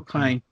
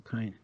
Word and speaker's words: Caine: Michael Caine. You pronounce it as in My Cocaine. Michael Caine.